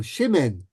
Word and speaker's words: Shimon: And it's the Litvak pronunciation. It's not Shimon, not Simon. He became Shimen with an E-N at the end, okay?